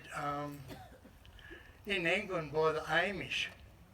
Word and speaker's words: Amish: in England by the Amish armish some people tell me you're supposed to say it like Army and this part here